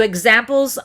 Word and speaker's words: example: instead of a consonant, the ks turns into a gz and we pronounce it eggs. We add what's called voicing. Eggs. Our vocal cords vibrate. X. No vibration. Eggs. You feel vibration. So, examples of that rule, the prefix x followed by a vowel, that would happen in words like example, exist, exotic.